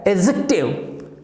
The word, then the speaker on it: adjective: इसको बोलना क्या है, एडजेक्टिव, और स्ट्रेस कहां पे, ए पे, एडजेक्टिव कम करना है, एडजेक्टिव, एडजेक्टिव।